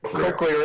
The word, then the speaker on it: cochlear: Obviously, the cochlear implant. Am I saying it correctly, Doc? So cochlear implant here in the United States, although if you're living in Australia, you're saying it perfectly.